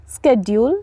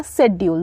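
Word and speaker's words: schedule: होगा next one इज स्केड्यूल या शेड्यूल दोनों प्रोनाउंस करेंगे स्केड्यूल भी प्रोनाउंस करेंगे और शेड्यूल भी प्रोनाउंस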